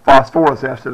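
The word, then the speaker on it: phosphorous acid: Or phosphorus acid is how you pronounce it.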